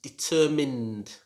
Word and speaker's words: determined: know it number four this word should be pronounced determined determined should not be pronounced determined as i